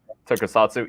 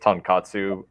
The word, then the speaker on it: tokusatsu: Yeah, and and instead of saying tokusatsu, he would say tonkatsu because it is pretty hard to pronounce.